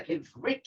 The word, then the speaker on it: Ivrit: But when it's a Ivrit like that, it's kind of a B sound too, but you really say it like a V.